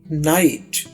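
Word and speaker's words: knight: ये देखिए, के नाइट। नाइट का मतलब है जंगजू। अब इसमें के साइलेंट है। याद रखिए, जब भी के और एन इकट्ठे आ जाए तो के की आवाज नहीं आती।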